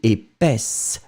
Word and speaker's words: épaisse: Feminine form, épaisse, s. D'accord? The S, don't go too far, I mean too much on it, but still it should be present, hein?